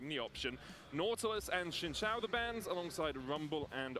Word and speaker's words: Xin Zhao: Nautilus and Shinshao the bands, alongside Rumble and Oriana from Giant X. You know, I recently found out. It's over then, We've it's just over. been saying Xin Zhao wrong. Shinshao.